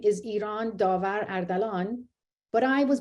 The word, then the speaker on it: Iran: So I am American, and you should be able to say Iran, right? Correctly. We had the hardest time getting our voice, TTS voices to say Iran, as you know. It was Iran, and we had to spell it differently.